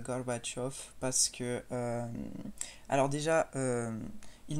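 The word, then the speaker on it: Gorbachev: voilà j'ai fait russe Gorbatchev ça se prononce garbach off parce que alors déjà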